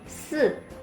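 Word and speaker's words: 四: Oke, selanjutnya 4, se. Jadi giginya rapat, lidahnya nempel di gigi depan, terus ngomong S gitu teman-teman. Se.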